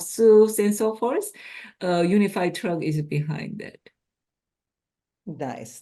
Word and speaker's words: UNFI: United Natural Foods uh we pronounce as UNFI UniFi uh UniFi uh serves various grocery